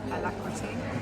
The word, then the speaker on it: Alacrity: And how do we pronounce the name of the boat? I've been saying it wrong all week. Alacrity.